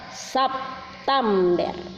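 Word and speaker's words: سبتمبر: Tidak dibaca sep. Bagaimana caranya dibaca sep? Tidak ada itu dalam bahasa Arab, langsung mati pada awalnya, langsung barisnya mati. Bagaimana caranya bacanya? Makanya itu dia kasih harakat, berbunyi sah, sap. Nah, semestinya kan kalau bahasa Indonesia sep. Itu tadi saya katakan ya, September. Tem, septem. Tidak ada tem, harus ta. September.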